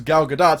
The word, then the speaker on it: Gal Gadot: Like, for example, with Gal Gadot, she pronounced her name as Gal Gadot, so I'm like, okay, she's Gal Gadot.